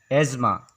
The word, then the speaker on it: asthma: फिर 5 नंबर पर आता है हम लोग का वर्ड एज़मा, जिसका स्पेलिंग होता है ASTHMA। यहाँ जो वर्ड TH इसे साइलेंट किया जाता है। इसे ऐसे लिखकर भी पढ़ा जा सकता है AZMA।